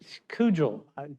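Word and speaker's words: Kugell: Kugel. It's spelled K-U-G-E-L-L.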